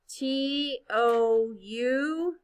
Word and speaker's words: tough: T-O-U-G-H. Remember? Remember tough sounds like a f, but it's not a f, it's a G-H.